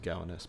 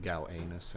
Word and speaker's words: Gowanus: galway nest canal okay i think it's just pronounced gowanus but gal anus is way cooler and